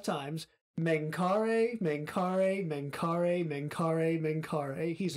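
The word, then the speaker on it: Mengkare: and I have in the notes to pronounce it 5 times. Menkare, Menkare, Menkare, Menkare, Menkare.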